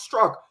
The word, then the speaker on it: Straka: I just learned that your last name is pronounced struck.